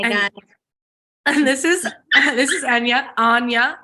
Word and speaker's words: Anya: So I've just learned to take different pronunciations as they come. I usually say Anya, but I can say, how'd you say it again?